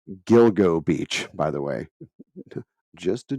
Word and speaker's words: Gilgo Beach: or I call it called Gigolo Beach it's it's Gilgo Beach by the way just